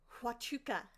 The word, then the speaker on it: Huachuca: Huachuca.